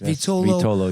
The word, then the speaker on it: Vitolo: All right, Emilio Vitolo is in the house. Did I pronounce that correctly? Yes. Yes. Vitolo, yes.